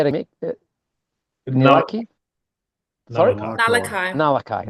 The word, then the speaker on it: Nullaki: Nullaki. Nullaki.